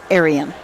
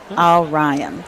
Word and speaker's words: Orion: do with the 5-horse, because he said it's Orion Racing. Orion, okay. Not Arian. Orion. So he wanted to make sure that we got that straight.